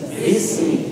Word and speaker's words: بسم: من الشيطان الرجيم بي بسمي لا تقل بس لا تقل بسم الله هذا خطأ لأن الباء وضعت بقليل من السكون وإنما الباء مكسورة نعم jadi jangan beliau